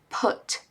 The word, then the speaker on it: put: Mas put é put, put, ok?